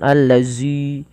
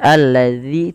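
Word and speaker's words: الذين: Hati-hati di dalam melafalkan huruf dalal. Jangan dibaca dengan huruf zai ya teman-teman. Jangan dibaca yawaddulladzina tapi dia dza ujung lidah kita menempel dengan gigi saring atasnya. Alladzi dza dzi ma yawaddulladzina kafaru. Hati-hati jangan menebalkan zanya jangan alladzi tapi alladzi tipis.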